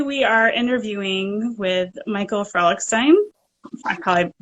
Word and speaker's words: Frolichstein: Frolichstein.